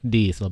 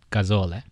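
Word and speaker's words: gazole: sucky one so beware it's a diesel it's not diesel but casole yeah so when you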